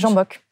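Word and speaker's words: Zsámbék: Deuxième lieu, cette fois-ci, c'était en Hongrie, à Zambok, c'est comme ça qu'on prononce ? Oui, Zambok. Voilà.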